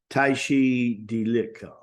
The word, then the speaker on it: Tashi Delek: hands together, bow to a Lama, and say, Tashi Deleki. And it's real pronounced, right?